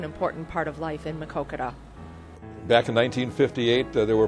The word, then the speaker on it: Maquoketa: uh we just say put the Coke in the middle and then you got it and say it fast put Coke in the middle and say it fast and you come out perfect makoka anybody that can pronounce